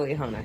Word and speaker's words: Liahona: one before the Leona. And thank you for pronouncing it correctly, Bill.